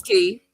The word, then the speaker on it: Key: Everything you guys are saying, everything you said, or Key. I'm sorry if I'm saying your name wrong. It's Key.